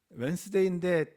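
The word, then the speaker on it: Wednesday: 예를 들면 수요일 같은 경우 웬스데이인데 D가 없잖아요.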